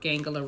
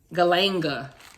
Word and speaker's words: galanga: of court case worth gangala root galanga i keep calling gangala galanga root is the proper way to say that okay um i've always said